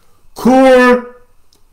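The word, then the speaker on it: قرآن: Allah, Subhanahu wa ta'ala, by pronouncing the name of the book correctly, Qur'an. Qur'an. There shouldn't be any dispute about that. If you say Qur'an, you put an ayin there.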